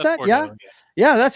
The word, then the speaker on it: Bordeaux: Is that how you pronounce that? Bordeaux, yeah, that's how we pronounced O down here in Louisiana.